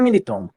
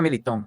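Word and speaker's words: Militão: Olha, é verdade que se pronúncia Militon, né? Pergunta pra Ana Paula se fala Militon, né?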